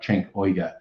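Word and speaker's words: Cenk Uygur: But I think his name's pronounced something like Cenk Uyghur.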